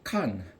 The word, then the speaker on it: Qan: This is the 26th letter, and it is called kan, which is spelt with the English Latin letters QAN.